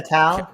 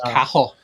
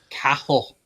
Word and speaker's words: Cathal: This is cahill. Cahill. So it's Cahill. pronounced. It's pronounced more with a K. So cahill, not cattle.